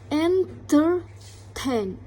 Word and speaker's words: entertain: Entertain. entertain. Nah, jadi stress yang ada di entertain itu ada pada tain.